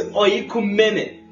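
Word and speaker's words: οἰκουμένη: Do you know that the word world there is, I always struggle to pronounce this Greek word, it's oikumene, which means the Roman Empire.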